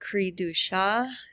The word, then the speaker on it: Cri-du-chat: The most common example of this is a disease known as Cri-du-chat syndrome. This is a French pronunciation, and it literally means cry of the cat, and it describes the characteristic cry of an affected child.